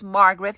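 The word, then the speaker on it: Margareth: to introduce myself again my name is Margaret with an H at the end it is silent I know my parents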